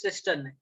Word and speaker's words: cisternae: Okay, someone in last class also asked me about the pronunciation of that word. It is cisternae.